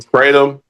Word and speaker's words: kratom: kratom. Kratom. There you go. There you go. Thank you. Yeah, Kratom.